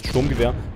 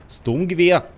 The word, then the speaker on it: Sturmgewehr: I mean, I'm by the way actually super able to put, lol, super able to pronounce Sturmgewehr, but I'm not doing so, cause, well, that is how I think it's how it how it's pronounced in English. Sturmgewehr. Despite being actually German.